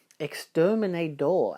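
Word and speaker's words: exterminador: Exterminator, actually. There's no T in there.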